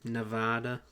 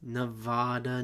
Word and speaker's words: Nevada: it there was um Nevada you mean Nevada Nevada so as an Oregonian from Oregon I must stress that if you ever come West as you should sometime don't say Nevada what is wrong with